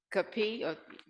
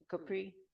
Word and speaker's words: Capri: congratulations second place is arac Capi keep saying it wrong congratulations how do you say your last name Capri okay third place is